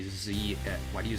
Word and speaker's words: Z: Plus, like I said, an anime that I was kind of infatuated with for a while was Dragon Ball Z, and that's pronounced Z regardless of where you are.